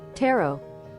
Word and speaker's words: tarot: Tarot. Tarot. Tarot cards. Okay. It's like carrots.